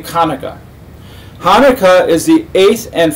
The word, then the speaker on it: Hanukkah: the glorious holiday of hanukkah or pronounced correctly kaneka hanukkah is the eighth